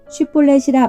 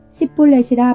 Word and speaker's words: 쉿볼렛: 아니라 하면 그에게 이르기를 쉿볼렛이라 발음하라 하여 에브라임 사람이 그렇게 바로 말하지 못하고 십볼렛이라 발음하면 길르앗 사람이 곧 그를 잡아서 요단강 나루턱에서 죽였더라.